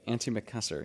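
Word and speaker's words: antimacassar: ant um anti macassar that's how you say it right auntie mccusser yes i looked this up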